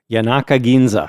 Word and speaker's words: Yanaka Ginza: Yanaka Ginza.